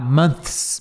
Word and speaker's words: month: e depois o s assim ó mons tá months months É difícil fazer o th e depois